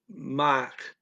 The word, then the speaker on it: maak: He says this K kind of weak. I left the K in there for the ear tuning syllables, by the way, anyone who can see this. He says mock. It's not really quite loud enough to be a K.